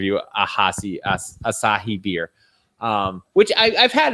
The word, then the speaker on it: Asahi: right peroni branta aashiqui us he can you pronounce that one the name try assa he actually as a he Asahi there you go um which is that which